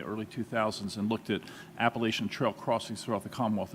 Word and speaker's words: Appalachian: as one who lives in that part of Virginia, I think it's important to point out the preferred pronunciation is Appalachian Trail and not Appalachian Trail.